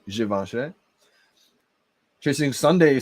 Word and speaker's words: Givenchy: check out the giveaway i usually just say javinci but i think it the correct way to say is givenchy chasing sunday he said